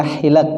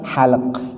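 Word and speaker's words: حلق: Itu bacanya hilak bukan halak.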